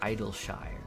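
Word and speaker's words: Idyllshire: Idleshire. Like Yorkshire puddings.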